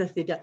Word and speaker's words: asclépiades: Est-ce que je le prononce comme il faut? Les asclépiades. Les asclépiades.